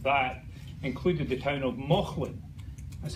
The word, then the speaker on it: Mauchline: latter half of that included the town of Mauchline. That's how you pronounce this, the town of Mauchline in Ayrshire, where Robert Burns wrote almost every single word that anybody remembers.